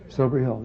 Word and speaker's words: Silbury Hill: This is Silbury Hill? That's not how you say it, is it? Silbury Hill, yeah.